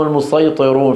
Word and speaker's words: المسيطرون: تجدونها فوق قوله تعالى ام هم المسيطرون في الطور تقرا بالصاد وبالسين ولكن النطق بالصاد اشهر انظروا المسيطرون والسين وين